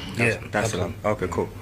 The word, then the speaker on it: Dar es Salaam: Did I pronounce that right? Yeah. Dar es Salaam. Okay, cool. Dar es Salaam.